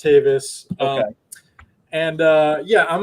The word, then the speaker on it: Tavis: my name is my last name is tavis it's pronounced davis um and uh yeah